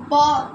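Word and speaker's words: bomb: না আসার আসার তারপর বম বম আমরা অনেকে বলি না বম বিটা উচ্চারণ হবে না অনলি বম বম অর্থাৎ অর্থাৎ বোমা সাখাপ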